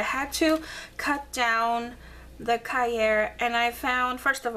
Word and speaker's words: Cahier: So this was amazing, because this took over for my Moleskine large, and this is actually a Moleskine Cahier, I believe is how you say it, and I had cut them down.